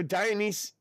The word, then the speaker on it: Dionysus: So Dionysus rhymes with crisis.